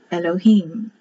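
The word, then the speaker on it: אֱלֹהִים: above h i y e remember the eyes pronounced like an e elohim but it's not the root word let's see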